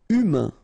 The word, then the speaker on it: humain: Humain, remember, H is not pronounced, A-I-N, un, humain.